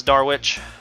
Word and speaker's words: Darwish: Darwish. To the house, it's Darwich. Kind of like Darwin. You know what I'm talking about with Darwin.